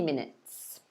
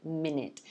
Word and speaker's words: minute: so we pronounce it minute notice both of the vowels are the same sound so minute minute all right a lot of language learners um well they say this wrongly they might say something